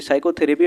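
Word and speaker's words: psychotherapy: the word of साइकोथेरेपी साइकोथेरेपी में हमारा पी क्या है साइलेंट है वाई एस पी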